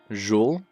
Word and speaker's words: Jules: oh that's so toxic don't pronounce the s joule so there's no s so like it's just joule like that okay perfect